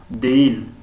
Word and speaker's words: değil: değil değil در اینجا نیست. değil در اینجا خوانده نمی شود تماما خوانده نمی شود.